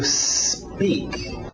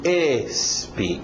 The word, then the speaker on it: speak: dia OK to speak to speak cuidado com essa pronúncia a tendência de de desse S antes do P quem fala português é querer colocar uma vogal de apoio dizer to esp porque a nossa letra